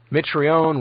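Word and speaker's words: Mitrione: Fry, spelled like it sounds, were captured by the revolutionaries. Mitraion was given the death penalty by a people's court while Fry suffered a heart attack and was released.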